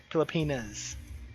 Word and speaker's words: Pilipinas: So, Pilipinas. Very be careful on that ending.